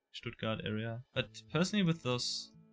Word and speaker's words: Stuttgart: To me, I would probably, I'll probably hedge either towards Nuremberg or more towards, Stuttgart, is that how you pronounce it? Stuttgart, yeah.